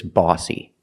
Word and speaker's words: bossy: The O here is not a short ah sound like hot and stop. It's a different sound. When you see OSS, we use the sound aw. Let's look at some examples. Boss, floss, cross. These words are all pronounced with the aw sound. The sound is made back here, aw, aw. Not ah in the front, but aw in the back.